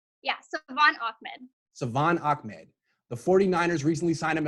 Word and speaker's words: Salvon Ahmed: thanks so much for doing how do you pronounce his name yes Savan Achmed the 49ers recently signed him as an undrafted